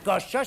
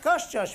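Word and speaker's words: Koszczoszcz: Ça s'appelle Koshchosh, c'est Koshchosh, voilà.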